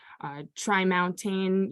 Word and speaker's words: Tremont: of impact because of Tremont Street so over time uh maybe being pronounced in different ways try mounting you could call it Tri-Mountain but in turn uh